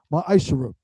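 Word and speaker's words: מעשר: tithes which is a commandment you can find this in numbers 18 to 21 and Malachi 3:es 8-10 means 10th in Hebrew and is pronounced myisher 10% of every penny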